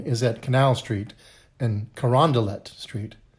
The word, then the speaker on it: Carondelet: Charles line is at Canal Street and Carondelet Street. It looks like it should be a French pronunciation, Carondelet, but it's not.